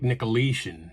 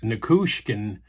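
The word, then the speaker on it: Nichushkin: So the front line for Dallas now is Valeri Nikushkin, and I was mispronouncing his name. I was calling him, I think, Nikoleshin. So Nikushkin at right wing.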